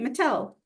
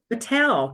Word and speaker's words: Mittal: I was listening you totally got it right Mattel Mattel because it could have been matal and I